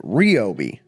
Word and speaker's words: Ryobi: They pronounce it wrong, they call it Ryobi.